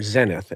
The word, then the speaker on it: zenith: company in la called zenith we americans say or zenith as the british say okay so anyway um